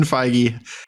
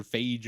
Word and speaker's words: Feige: the reach of the marvel cinematic universe kevin feige has gone too far officially with this one